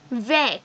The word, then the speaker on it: vert: So, vec. Here, T is not pronounced. But in feminine, vect. Here, the whole word is pronounced.